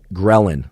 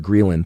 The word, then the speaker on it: ghrelin: hormone in your body called ghrelin, sometimes actually called ghrelin. Thanks for all of you ghrelinisters, or ghrelinisters that corrected my pronunciation, it's both ghrelin or ghrelin, either one works.